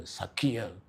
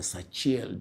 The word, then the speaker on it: Sachiel: But here you can also use in the name of Archangel Sakiel and his angelic host, since Sakiel is the one that is ruling the year, or Sachiel, depending on how your pronunciation is.